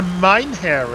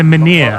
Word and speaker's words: menhir: It's a Mynheer, isn't it? Or- It's a menhir. Oh, That's how it's they a pronounce dude.